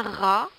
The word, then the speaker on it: rat: avons les premiers mots un rat RA r t le T ne se prononce pas donc nous entendons un RA à savoir que un